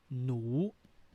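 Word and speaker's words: หนู: So consonant no nu, plus vowel nu plus rising sound nu. So this is how we pronounce the word nu.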